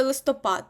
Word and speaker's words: листопад: благовіст запам'ятайте це слово листопад ну проведіть асоціацію падає пад так тому буде листопад бо листя падає тому листо пад наголос на останньому складі і шляхопровід ві шляхопровід